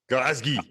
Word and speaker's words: Glasgow: thank you, we absolutely need to go to Glasgow and uh and have a a good nosy around their stuff because Tim, can you can you say it properly? Glasgow. Glazgi.